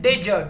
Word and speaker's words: did: ये डिड जो है, पर अमेरिकन प्रोनाउंसिएशन में ये डिड नहीं होता, डिड है, ये होता है डिज, DIJ, डिज।